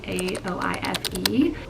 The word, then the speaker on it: Aoife: This one is about Joey and Aoife, I think is how you pronounce it. It's Aoife.